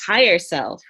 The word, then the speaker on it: Hier Self: a really powerful and awesome so it's actually pronounced hi yourself higher self okay is higher self even better can you